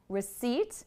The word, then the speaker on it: receipt: Receipt is a 2-syllable word. It's important to think about the stress of these words. We have receipt.